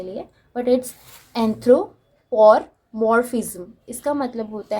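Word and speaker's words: anthropomorphism: एंथ्रोपोमॉर्फिज्म, okay, ये word थोड़ा difficult है प्रोनाउंस करने के लिए, बट इट्स एंथ्रोपोमॉर्फिज्म।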